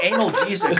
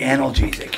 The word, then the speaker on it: analgesic: anal jesic or something is that how you pronounce it no anic doesn't mean that means you take it rect oh where'd it go under your chair oh wait analgesic you're right lemon peel it's anal jesic these are milk okay